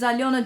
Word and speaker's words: Aliona: Aliona's name is Aliona. Do not shorten my name. It's Aliona. 3 syllables.